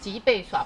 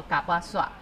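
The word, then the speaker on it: 吉貝耍: 山，我们脊背耍部落。脊背耍其实不是正确的读音，应该正确读音叫做嘎巴耍。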